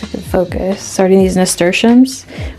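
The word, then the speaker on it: nasturtium: can focus, starting these nesters, which I recently learned how to pronounce them. I totally thought it was nestium.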